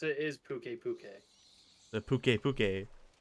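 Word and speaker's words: Pukei-Pukei: And I just heard them pronounce it as Puke Puke.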